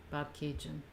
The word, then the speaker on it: Bobcaygeon: Patrick says the Tragically Hip song pronounces it Bobcaygeon.